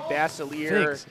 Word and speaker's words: Basiliere: No, actually, Julie Basiliere is saying, ha, ha, ha, if it helps, you said it right when you said Basiliere, I'm his wife.